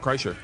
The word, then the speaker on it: Kreischer: How do you say your last name? Kreischer, you said it right. Yeah? Kreischer.